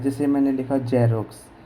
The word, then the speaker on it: Xerox: और एक होता है, जैसे मैंने लिखा जेरोक्स, XEROX, जीरोक्स, जीरोक्स। तो यहाँ पर X का उच्चारण हमने क्या किया? ज, और यहाँ पर X का उच्चारण हमने क्या किया?